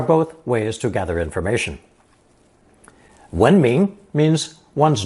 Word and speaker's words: 闻: It's pronounced second tone, 闻, and usually means to hear, or more rarely, to smell.